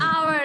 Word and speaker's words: hour: Hour, H is H is silent।